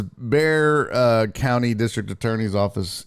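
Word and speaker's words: Bexar: By the way, how old were you when you learned that Beex AR spells bear? I always said it. I always pronounced a Beexar like a dumb Uh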